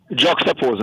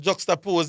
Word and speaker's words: juxtapose: Juapose. No, I've never seen it. No, man. Juxtapose is you just really comparing situations.